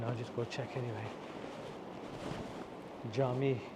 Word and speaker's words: Cami: Jami is the Turkish word for masjid. Jami. C-A-M-I-I. They pronounce these C's as J.